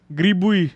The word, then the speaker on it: грибы: Spell it. Г. Ger? Гри. Gri? Бы. Bui. Yeah. Gribui.